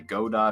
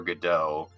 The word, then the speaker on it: Godot: And then I tried teaching myself Blender and stuff, but I use an engine now called, it's pronounced either way. You can either say Godot or Godot.